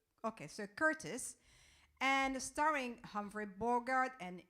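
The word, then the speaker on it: Curtiz: is that how you pronounce it whether you're spelled with a zed so you say curtis okay so curtis and starring humphrey borgardt and ingrid bergman premieres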